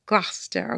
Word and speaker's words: Gloucester: it's spelled it's spelled Claus saster but it's pronounced Gloucester okay shows comes out okay but you know